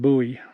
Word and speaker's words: Bowie: so if you watched my video about Fort buoy which I pronounced Bowie because I didn't know any better um there's